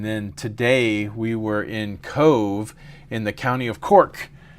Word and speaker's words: Cobh: None of like Foy is spelled Fowey, and Cove is spelled Cobh, which is Gaelic.